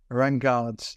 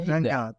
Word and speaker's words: Raingeard: I can pronounce Raingeard's name correctly. How am I doing out of 10? So you got your Raingeard, Lewis. No, it's Raingeard. Yeah, it's just the last bit.